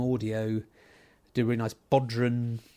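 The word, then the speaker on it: bodhrán: Do a really nice Bodhran, that's how I pronounce it, the Irish drum.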